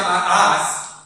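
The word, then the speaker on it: מאס: Miren, amados, cuando dice la palabra desechado, es una palabra en griego que se pronuncia ma'as y que también significa desdeñar, aborrecer, ¿sí?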